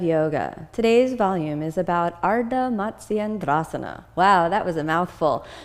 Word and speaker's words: Ardha Matsyendrasana: Ardha Matsyendrasana. One more time. Ardha Matsyendrasana.